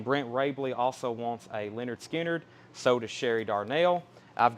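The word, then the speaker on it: Lynyrd Skynyrd: there um next record is leonard skinner pronounced leonard skinner this is 37.99 and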